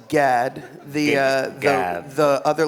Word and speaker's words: Gad: it's uh just pronounced Gad the uh the other letters that don't exist like you're gagging like Gad no Gad Gad with